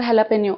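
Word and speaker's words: jalapeño: टी इथे silent असतो आता हे स्पेलिंग जरी जे वरून सुरू होत असलं तरी उच्चार ज वरून न होता ह वरून होतो याचा उच्चार हॅलपेन असा होतो बरेच जण याला कुली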